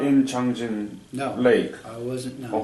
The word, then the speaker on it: Changjin: It's actually man-made lake and it's called Changjin. And Chosen is a Japanese pronunciation.